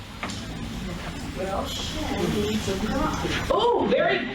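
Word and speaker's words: שין: The first sound in the written name of the letter is the sound that the letter makes.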